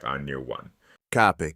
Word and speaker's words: cape: In the third conjugation, the singular ends in a short E, but that E shifts to a short I in the plural. Listen for the change.